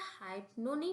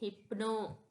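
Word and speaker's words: hypno: मैं यहां प्रोनाउंस कर देती हूं। इधर लिखा है इधर लिखा है हाइपो नहीं पढ़ेंगे हम इसे। इसे हाइप्नो नहीं पढ़ेंगे। इसको हम पढ़ते हैं हिप्नो।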